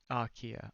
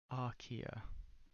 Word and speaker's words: Archaea: As it turns out, bacteria and archaea, I can't remember what that is as well, constitute a domain of single-celled organisms.